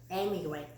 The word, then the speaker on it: emigrate: 요거는 immigrate, 이 아이는 emigrate. 이 발음을 살려줘야 돼요. emigrate 똑같은 뜻이에요.